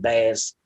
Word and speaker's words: Bass: Her name is Layla Bass. BASS. So it's spelled like bass. I call it Layla Bass.